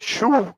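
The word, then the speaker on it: Shough: I think Shoo is going to be that's what his name is Shoo. The GH is silent.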